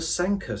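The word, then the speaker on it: Sanquhar: Isabelle sa nqu har Sanka aha who's thinkin it rhymes with Tonka so the Sankar patterns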